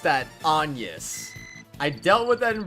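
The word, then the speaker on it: Agnès: There are situations where it is pronounced Agnes, though, isn't it? So, I mean, like... I don't know. I don't know, man. That name gives me a fit, I swear. You can pronounce it both ways, can you not?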